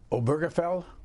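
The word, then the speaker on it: Obergefell: Dead Body but the message is the same oberfell yes that's how you pronounce it yeah the gay marriage the gay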